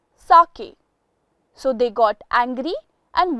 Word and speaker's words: sake: Father F A far K rhymes with way sake our fifth word is